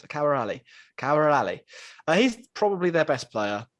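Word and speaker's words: Khawar Ali: Their best players, Kawar Ali. I'm pretty sure that's right. I did listen to how to pronounce it. Kawar Ali.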